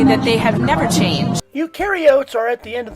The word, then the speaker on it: eukaryotes: or are you sure you're a guide it's pronounced eukaryotes eukaryotes eukaryotes yes eukaryotes all right here's another here's